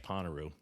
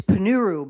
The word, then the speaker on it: Ponnuru: It's ponuru. But uh but you seized on a popular pronunciation.